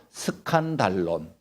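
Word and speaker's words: σκάνδαλον: 그리스어 히라바로 작성이 됐는데 그 시라보가 이렇게 발음합니다 스칸 달론 여러분들 금방 눈치챘지요 십자가에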